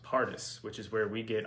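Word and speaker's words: פרדס: very interesting the hebrew word for parks is pronounced pardus pardus which is where we get our word for paradise oh yeah paradise okay for parks yeah for parks yeah it's the hebrew word pronounced partus which is where we get our word for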